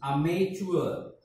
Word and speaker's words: amateur: Sometimes we pronounce t as a ch.